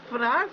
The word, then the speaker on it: Fnarf: You know Fnarf is looking for you. Fnarf rhymes with barf.